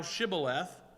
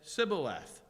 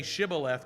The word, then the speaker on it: Shibboleth: While the Gileadites used sh, they used the Hebrew letter shin, the Ephraimites naturally pronounced it with the simple S.